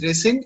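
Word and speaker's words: rescind: called resend okay okay it's pronounced as resend and it means cancel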